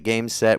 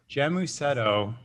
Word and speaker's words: Gēmusetto: what the problem is with how it's spelled like when you hear it said you're like makes sense but when you when you're when I read it for the first time I was like jetto oh God there's a